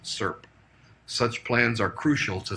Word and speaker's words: SIRP: Best practices call for financial sector entities to maintain and test a security incident response plan, or SIRP, doubtless to be pronounced SIRP.